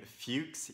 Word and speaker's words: Fuchs: resistance by Julian Fuchs I'm gonna pronounce his surname Fuchs you could pronounce the name another way but I won't do that and it's translated by